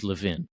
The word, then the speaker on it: Levin: family pronounces it is Levvin in um the the the second syllable is stressed. That's just the Israeli way of doing this and uh there's there